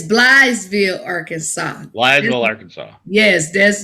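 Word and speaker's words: Blytheville: It's Blythesville, Arkansas.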